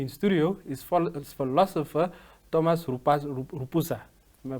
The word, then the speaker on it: Rupusa: and joining me in studio is philosopher Thomas rupasa am I pronouncing it correctly yeah welcome to the evening